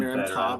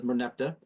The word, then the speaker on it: Merneptah: I don't like the Merimta pronunciation. Merneptah sounds... Technically pronounced Merimta, but everyone says Merneptah.